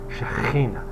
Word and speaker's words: Shechinah: Some make it sound like a letter chet, like a Shechinah. Some it's like a Shechinah, which would be like Shekhina. There are different ways to pronounce a kaf, which doesn't, which has the shva on it and doesn't have any dagesh. They're all correct.